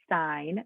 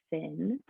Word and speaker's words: sine: talking about sign right pronounced sign not sin right um so we're